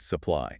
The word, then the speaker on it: supply: The U turns into a schwa. We say supply, supply.